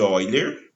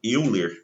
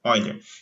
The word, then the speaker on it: Euler: Nós temos um número de Oiler, né, ou às vezes chamado euler, né, aqui no Brasil, tá? Mas é o matemático alemão, a pronúncia correta, Oiler, que é esse número